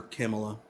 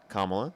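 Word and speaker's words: Kamala: Definitely wouldn't vote for Camela. Kamla. So, would you vote for Trump? That's why I said Camila. Kamla. You can say Harris if you can't pronounce her name correctly.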